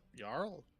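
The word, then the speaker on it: Jarl: Yarl, it's based off of It's based off of a Penzy O8 AO.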